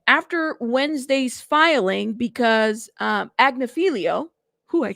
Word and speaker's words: Agnifilo: you guys and after Wednesday's filing because um agnifilo who I said it right yes he basically